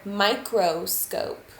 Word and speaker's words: microscope: actually a schwa but if you pronounce it really hard and really slowly then you're going to hear that as a long o sound like this microscope m-i-c-r-o-s-c-o-p-e